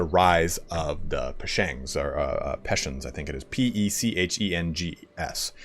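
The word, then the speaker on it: Pechenegs: I think it's Peshens. I know you don't pronounce the G as hard as I believe.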